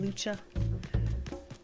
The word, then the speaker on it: Lucha: Some people pronounce it Luca, some people pronounce it Lucha.